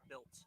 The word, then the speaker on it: Biltz: Biltz, not Blitz.